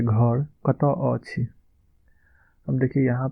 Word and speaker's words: कतऽ: तो कहाँ को हम कतऽ बोलते हैं, इसका आप उच्चारण देख लीजिए। अहाँ अहाँ के घर कतऽ, अहाँ के घर कतऽ, त में अ लगा हुआ है, कतऽ, अहाँ के घर कतऽ अछि।